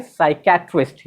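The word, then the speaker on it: psychiatrist: यहाँ पे देखिएगा पी लिखा हुआ, लेकिन ये कंप्लीट साइलेंट होगा, इसको हम लोग बोलेंगे साइकेट्रिस्ट, यानी मानसिक रोग विशेषज्ञ।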